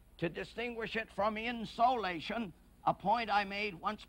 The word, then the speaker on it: insolation: I pronounce that insulation to distinguish it from insolation, a point I made once before on a program, insolation, incoming solar radiation.